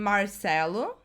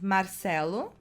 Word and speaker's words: Marcelo: I want to talk about these two guys because their name could be pronounced differently in 3 different ways depending on where you are in Brazil. Some people are gonna say Neymar and Marcelo.